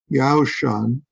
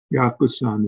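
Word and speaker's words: Yaoshan: I'll bring up Master Yao Shan was sitting the monk asked what do you think about sitting in my pronunciation of the Chinese it's yakuzan in the Japanese way of pronouncing those characters said I think not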